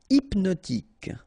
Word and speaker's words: hypnotique: Hypnotique, remember, at the end, Q-E, K, tic. So H is not pronounced. Hypnotique, hypnotique.